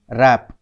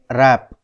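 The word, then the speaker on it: wrap: sound नहीं है next इस वर्ड को देखते हैं इसकी स्पेलिंग है डब्लू आर ए प तो इसको हम कैसे रीड करते हैं रैप तो यहां पर कौन सा लेटर साइलेंट है यहां पर डब्लू साइलेंट है तो इसकी स्पेलिंग है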